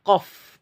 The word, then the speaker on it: ق: Ini kan huruf aslinya kof, bukan f-nya itu ya, bukan fa-nya itu ya. Tapi penyebutan di awal ko, seperti itu tidak ada napasnya, bukan ko ya, tidak ko tapi ko.